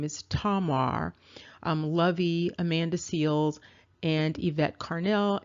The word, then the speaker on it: Tamar: their names are sarin and I pronounced the name wrong in the first video her name is tomar um lovey Amanda seals and IET Carnell and